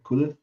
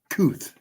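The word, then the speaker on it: Kuithe: Is that how you say his name, right? Cooley? It's Kuth. There you go. Kuth.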